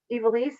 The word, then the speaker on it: Ivelisse: Ivelisse, if I'm not saying your name correctly, no, please.